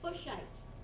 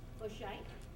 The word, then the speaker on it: Fuchsite: Fuchsite. I'm going to spell that because it's an interesting sound, right?